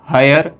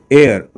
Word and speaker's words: heir: जैसे एक देखिए अब इसको मैंने यहाँ पे लिखा है, तो इसको कोई बोलेगा ए क्या हायर, है ना, कोई हेयर का कह दे, है ना, लेकिन इसका मेन प्रोनाउंसिएशन क्या होता है, एयर, है ना, इसका रियल प्रोनाउंसिएशन क्या होता है, एयर।